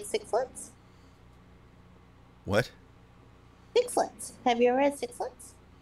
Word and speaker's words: Sixlets: Say that slower and pronunciate a bit more. Six. Slit. Pig slit? No! S is in Sam. I is in ice cream. X is in xylophone. L is in llama. E is in egg.